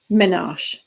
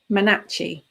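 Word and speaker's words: menarche: it rituals and things i'd only ever seen the word menage written down it's actually pronounced manachi which actually sounds really horrible so i will probably stick with minaj because it sounds nicer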